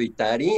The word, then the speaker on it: Itari: El acento en la I, y yo te estoy diciendo Itari, o es así como un error común el mío con tu nombre. De hecho, tú lo estás diciendo bien.